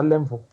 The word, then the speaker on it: N'Lemvo: Si on peut le prononcer comme ça, mais on peut dire seulement Nlamvo. D'accord.